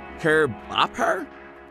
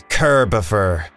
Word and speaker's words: Kerbifer: Kerbopper? Gopher? Gopher? It's Kerbifer. Ah.